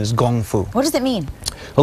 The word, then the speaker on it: kung fu: it is it true that traditionally it was pronounced gungfu actually that's that's correct it's actually that's how